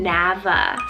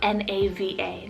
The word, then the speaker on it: Nava: Next up for the letter N, I have the name Nava, spelled N-A-V-A, Nava.